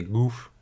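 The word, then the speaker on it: Gough: J'ai jamais su prononcer le GH dans un nom, c'est Gouff. Gouff.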